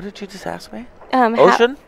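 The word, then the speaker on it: Ouschan: Ocean? Is it Ocean? Okay. So it's just like the ocean?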